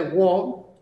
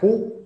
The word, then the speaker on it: who: El who, esta de wo, ojo porque no se pronuncia wo ni nada similar, se pronuncia who, como si fuera una J y una U, who, ¿por qué?